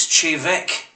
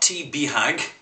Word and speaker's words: Te Bheag: Because you realise, you Maltese, that when it comes to the translation of Gaelic into English, you cannot do it phonetically. It is, in fact, completely different from what it looks. This whiskey is Chevek. Not T. Behag.